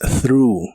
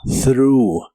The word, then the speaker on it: threw: En el pasado es threw. Es un verbo irregular y en el pasado la TH se pronuncia igual que en el presente, pero solo termina con el sonido U y suena como threw. Threw, y lo puedes usar